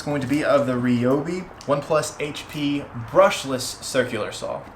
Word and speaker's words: Ryobi: make specifically of the ri products yes it is RI even though Ryobi just feels better I'm going to start saying RI in these videos because that's the right way to say it um and so this